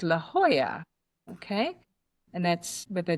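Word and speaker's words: La Jolla: good laugh out of, it's a town called La Hoya. Okay? And that's with a J O L A at the end. So Americans call it La Hoya.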